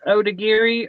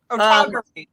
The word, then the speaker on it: Otagiri: How do we pronounce that now, I thought you Trisha? were the one who taught us. Otogari. Otogari. Yeah. Otogari. Oh, goodness. Well, actually, if you Google it, she's more saying like Otogari.